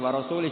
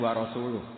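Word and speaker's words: وَرَسُولُهُ: Wa rasulih juga tidak ngurus Rasulnya. Kalau sama Rasul saja tidak ngurus, apalagi sama kita. Sama Sayyidina Ali dibenarkan yang benar bacanya itu wa rasuluh.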